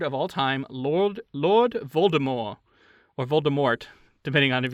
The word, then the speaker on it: Voldemort: depending on of you isn't how they pronounce it in the movie Voldemort its Voldemort yeah yeah but in the book it's Baltimore at least the audiobook that's how he pronounced and I think believed JK Rowling has come out and said that that's how she intended it to be pronounced as well oh no no that's